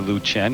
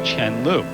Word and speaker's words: Chen Lu: And while it is acceptable to call her Lu Chen here in the west, actually in China, the correct way to say it is Chenlu.